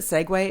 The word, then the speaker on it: segue: need a segue segue I just learned that segue is spelled SE g u s e-g you eat